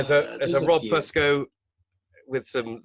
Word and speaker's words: Fusco: The traditional Italian pronunciation is Fusco. Fusco, yeah. And I've adopted that for a while, but my dad pronounces it Fusco, which is like this American bastardization of it's like let's the FU sound is like fusion, but let's make it Fusco.